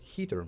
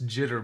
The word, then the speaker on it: jitter: is exactly this so everyone's clear it's jitter movement but it's yeah sometimes people uh if you're pronouncing j's like h's then you're going to say hitter And if I hitter my particles, I'm spreading them.